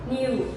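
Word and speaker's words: knew: and we also have new okay there is this letter k in this one but we don't pronounce it okay so when you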